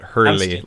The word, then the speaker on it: Hurley: but I know it Hurley like the surfboard company right there you go